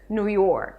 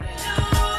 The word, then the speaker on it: New York: The stress falls on the second word. But new is kind of stressed too because it is an important word. New York. New York.